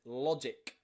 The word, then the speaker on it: logic: And nearly always in English, that means that G is pronounced J. Another example here is logic.